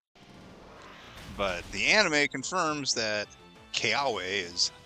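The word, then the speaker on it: Kiawe: It should actually be a V sound. But the anime confirms that Keawe is how they want it to be pronounced.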